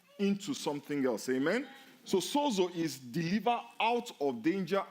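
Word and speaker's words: σώζω: The word saved in this verse comes from a Greek word that is pronounced sozo.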